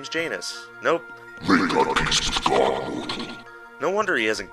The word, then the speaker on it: Janus: or Janice or Janos I'm not sure of the actual pronunciation but I've always said Janus Connor rhymes with anus which is surprisingly appropriate